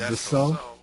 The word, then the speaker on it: Dassault: Is it Dassault?